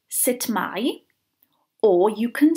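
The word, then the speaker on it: sut mae: that you will hear variations of the way sit my which is standard Welsh is pronounced depending on where exactly you are in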